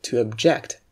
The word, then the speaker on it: object: on the taxiway but when it's a verb you pronounce it as - object and it means to be against